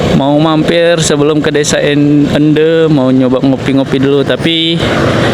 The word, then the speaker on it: Ende: Ende cara pengucapannya tadi katanya Desa Ende kata Masaka.